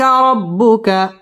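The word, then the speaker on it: رَبُّكَ: ফায়ুতিকা র পুর হবে রব্বু বা তাসদীদ ওয়ালা হরফ রব্বুকা ফাতার র পুর হবে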